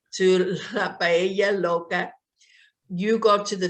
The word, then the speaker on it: paella: pelia loca means crazy paella so in spanish the double l pronounces like a y paella paella yeah yeah right right